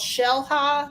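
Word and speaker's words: Xel-Há: of Cancun or something it's called shell high but it's spelled x-a-h-a and Michael Ann you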